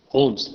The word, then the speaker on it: Holmes: And in this book, Holmes, L is silent over here, don't say Holmes, Holmes.